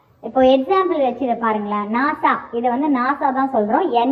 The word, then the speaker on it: NASA: group of words and it is pronounced as a word, not letter by letter. புரியுதா? இப்போ example வச்சு இதை பாருங்களேன். நாசா, இதை வந்து நாசா தான் சொல்கிறோம், NASA அப்படின்னு நம்ம சொல்லலை.